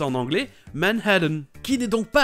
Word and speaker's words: Manhattan: Et ce musée se trouve à Manhattan, ou comme c'est prononcé en anglais, Manhattan, qui n'est donc pas à côté de l'école de Peter, qui est dans le Queens.